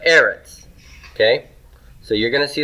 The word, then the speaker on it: Eretz: Arents so look at Eretz there i've got that written down for you here do you see that the stress is on the first syllable here in Aaron's it's not a retz but Aaron's okay so you're gonna